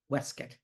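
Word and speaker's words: waistcoat: which he surely called called a waste coat and surely pronounced weset altogether he looked like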